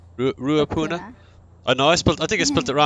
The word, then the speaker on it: Ruapuna: Yeah, how do you pronounce that? Name of round 9. Ruapuna. Rapuna? Ruapuna.